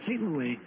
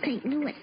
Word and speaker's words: St. Louis: Why, she's the strongest horse in St. Louis. Excuse me, Mr. Costello, but it's pronounced St. Louis.